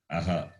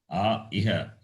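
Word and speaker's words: अः: Some people say iha, not iha at all. Aha.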